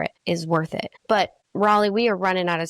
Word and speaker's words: Raleigh: right, ri Raleigh wants to ask him questions or ask me questions, and we're going to be publishing this to everybody.